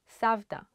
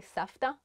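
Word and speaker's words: סבתא: End of the Street savdha Grandma a lot of people say Safta because it's like easier to stay on Facebook my Grandma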